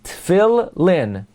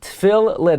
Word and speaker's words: Tefillin: pronounce it therefore is it's as if they're two lamids Phil Lynn Phil Lynn okay so most accurately Phil Lynn it's like there's a